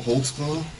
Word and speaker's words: Holtzclaw: there because I don't even know how to spell it how do you say it man Daniel holtzclaw holtzclaw what is that that's a German can